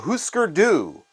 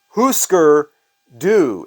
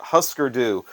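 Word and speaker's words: Hüsker Dü: get right to it these guys are called Husker do Husker do is how you pronounce their name not huskerdu one of the lead singers of this band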